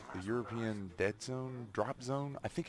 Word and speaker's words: European Dead Zone: It's not Drop Zone. It's Dead Zone. I was saying it right the first time.